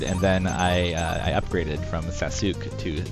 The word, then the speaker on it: Sasuke: So here's Sasuke's.